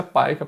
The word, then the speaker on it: PICA: Né, a gente escreve PICA, mas pronuncia PAICA para não ficar feio na hora de ficar falando.